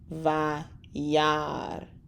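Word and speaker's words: וַיַּרְא: This one's a little difficult. We have consonant, vowel, consonant, vowel, consonant, sheva. And we're not going to pronounce our aleph. So we're going to pause there and let it just kind of roll through. So we have vayar, vayar, vayar, Elohim.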